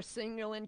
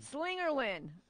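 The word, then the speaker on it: Slingerland: Do you still have your Singerlin kit from Holy Diver? Slingerlin.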